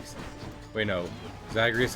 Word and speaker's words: Zagreus: Zagreus has 3 syllables.